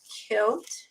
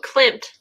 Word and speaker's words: Klimt: Kilt. How do you pronounce that, Kathy? Oh, Klimt. Klimt.